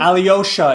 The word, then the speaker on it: Alyosha: Alyosha is how you pronounce it. Oh, Alyosha.